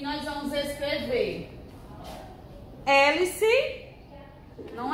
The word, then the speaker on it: hélice: Hélice, não é com E, primeiro vem o H. Hélice, o H ele não tem som, ele é mudo, viu?